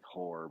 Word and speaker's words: horr: It sounds like whore, but it's actually this.